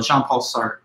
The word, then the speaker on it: Jean-Paul Sartre: The French pronunciation of the name Sartre, you know, with that soft R, it's a little hard for the American tongue to pronounce, but not too big a deal.